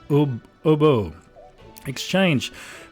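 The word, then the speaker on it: Ubbo Exchange: So it's spelled UB and then UBBO. And it's pronounced Obo Exchange.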